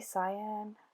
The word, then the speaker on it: cyan: It's Primary Cyan, is how you say it, C-Y-A-N, cyan, and I love it.